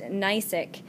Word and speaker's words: gneissic: And the last type of foliation is called gneissic, and it starts with a G, and it's pronounced gneissic.